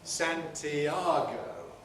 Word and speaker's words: Santiago: strong bowel the spanish city of santiago in spanish has three syllables in english how many syllables does it have four santiago because we couldn't compress into yet before strong r santiago and many